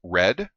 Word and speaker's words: Read: am the red panda it is pronounced red as in a well-read panda or i read the book last night it's a homophone that's